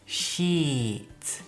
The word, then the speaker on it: sheet: And the pronunciation is sheet. Y la otra palabra es shit. Shit. So sheet and shit. Can you hear the difference? Sheet and shit. Shit es muy cortita la vocal.